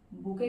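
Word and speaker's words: bouquet: Collective हो गए आपके ट्रूप्स, फ्लावर के गुच्छे को हम बुके कहते हैं फ्रेंड्स। टी साइलेंट होता है।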